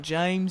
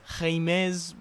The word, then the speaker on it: James: and James Roger oh it's not James it's jimz it's spelt James sorry it's just obviously